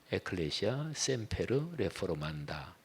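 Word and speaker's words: Ecclesia semper reformanda: 라틴어는 영어 그냥 그 글자 그냥 똑같이 쓰죠. 읽는 발음이 에클레시아 셈페르 레포르만다.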